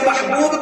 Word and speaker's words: محبوب: دفعہ گلے ملتے ہیں۔ یہ محبوب کا لفظ بھی ایسا ہی لفظ ہے کہ جب اس کا تلفظ کیا جائے یعنی زبان سے اسے بولا جاتا ہے تو 3 دفعہ دونوں ہونٹ آپس میں گلے ملتے ہیں۔ جب محبوب کا